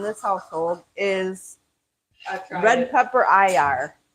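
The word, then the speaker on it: ajvar: Tonight, the new ingredient that nobody has ever tried in this household is red pepper IR. That is how you pronounce it. It's AJBAR. It's pronounced IR.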